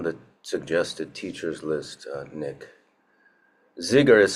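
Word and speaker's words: Dzigar: Zigar is spelled D-Z-I-G-A-R.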